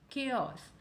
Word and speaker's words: chaos: Chaos. Yes, this is a correct pronunciation. Chaos. We stress more on the first part, which is chaos.